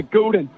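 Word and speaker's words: Gulden: Goulden.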